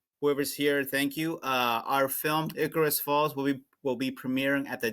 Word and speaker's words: Icarus Falls: Am I right? Am I saying this right? Yep. Icarus, right? That's right. Correct. Icarus Falls. I said it right.